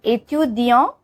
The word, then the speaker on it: étudiant: So in the masculine version, we don't pronounce the T, ending wala T, but in feminine version, we do pronounce it.